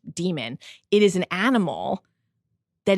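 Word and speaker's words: dæmon: It's spelled like Damon, but it's demon.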